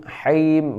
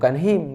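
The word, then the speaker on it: الرحيم: Rahim, haim bukan him tapi haim ditenggorokan ya. Ha yang di tengah tenggorokan. Rahim ini mad arid li sukun.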